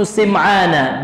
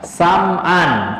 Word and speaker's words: Sim'an: Syekh Shalih Al-Fauzan mengatakan huwan Nawas bin Sim'ana bi kasri sini. Namanya adalah An-Nawas bin Sim'ana dengan mengkasrahkan huruf sin. Sebagian ulama, Al-Imam An-Nawawi mengatakan dua cara bacanya. Bisa dibaca ayahnya ini, bisa dibaca Sim'an, bisa pula dibaca Sam'an. Kedua-duanya boleh, Pak.